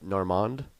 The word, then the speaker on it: Normand: you get to Norm you pronounced the D at the end as as Normand Normand Normand so all all those times that Jim called you Normand he wasn't mocking well he was saying it mocking still but like that's actually how you pronounce it that's actually how you nor nor nor the D is silent is silent in in French yeah but I mean when